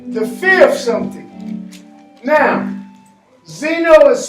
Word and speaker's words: xeno: Now, xeno is spelled how? X-E? N-O. And the reason that it's X-E is because X that comes before a vowel does what? Change to Z. Changes to the Z sound.